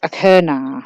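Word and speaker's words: Achernar: a fixed star called a kernel that's how I pronounce it it's probably very different ACH er in a are now it's very interesting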